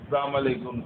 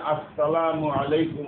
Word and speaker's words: আসসালামু আলাইকুম: সহজগুলি যেমন সালাম, সালামের উচ্চারণটা অধিকাংশই অশুদ্ধ উচ্চারণ করে, সালাম আলাইকুম, সালাম আলাইকুম। শুদ্ধ সালাম হচ্ছে যেমন আসসালামু আলাইকুম রাহমাতুল্লাহ, কিভাবে বলেন তো? আবার বলেন, আপনারা তো জানেন হামজারে হামজা কিভাবে বলতে হয়, উচ্চারণ করতে হয়, হজম করে দে মিলায় ফলায় তেলে উচ্চারণ ঠিক হবে না। হামজা তিন যাবার আসসালামু আলাইকুম মিমের পেশ কো মারুফ উচ্চারণ, আর আইনের উচ্চারণটা তার মাখরাজ থেকে উচ্চারণ করা, আলাইকুম না হয় আলাইকুম, আসসালামু আলাইকুম ওয়া রাহমাতুল্লাহ।